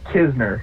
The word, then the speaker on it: Knizner: My name is Andrew Kizner. Kizner. Okay, there we go. Just so everybody knows because it's spelled in a very unique way. KN I Z ne.